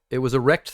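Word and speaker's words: rekt: It was a rect thread. I don't know if you've ever heard of these. It's spelled R-E-K-T. And a rect thread is normally basically people sharing compilations or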